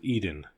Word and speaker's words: Eden: The word was Eden, to rhyme with seed in.